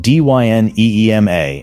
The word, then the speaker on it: Dyneema: Dyneema is spelled d y n e e m a and pronounced Dyneema.